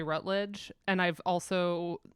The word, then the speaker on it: Routledge: I've heard people say Rutledge, and I've also like never had anybody specifically correct me or tell me that Routledge was wrong. So Yeah, it's Routledge for me, right? Yeah. Routledge. Four Yeah, just syllables.